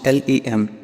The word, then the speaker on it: LM: Then there was the Lunar Module, LM, pronounced LEM, which had actually been